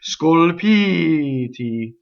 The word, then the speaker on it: scolpiti: So that's a mistake in this word because it's Scolpiti, right? So the stress is on the E vowel before the T, right?